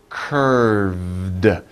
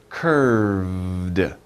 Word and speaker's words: curved: little hard to pronounce curved remember the v sound right in the middle and you make a little vibration with your throat so curved curved and then you stop it with the d sound curved curved so